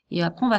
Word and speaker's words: vais: Alors ce mot-là, il se prononce V. Parce que le AI, ça fait V. Ça fait E en fait, le AI, pardon.